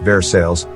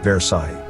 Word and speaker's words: Versailles: mispronounce like the city of versailles yes it's pronounced versailles not versailles i'm from missouri and even i have a